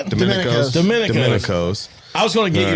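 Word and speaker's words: Domenico's: on the square of Murphy's Boro Tennessee called demonos I said Domin Domin dominicos I was going to get you to pronounce it because I always like I hear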